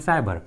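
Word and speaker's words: cyber: तो ट्रिक के अनुसार यदि किसी इंग्लिश वर्ड्स में सी के बाद वाई आता है तो सी का उच्चारण क्या होता है, स। इसलिए यहाँ पर सी का आवाज क्या आ रहा है, स। साइकिल एंड साइबर।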